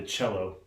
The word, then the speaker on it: cello: back again to tell you a little bit more about the cello.